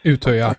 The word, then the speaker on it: Utøya: Utøya? Utøya, yes.